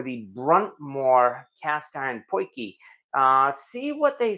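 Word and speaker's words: potjie: to I mean the spelling looks like it's pronounced Podi p o t j i e and at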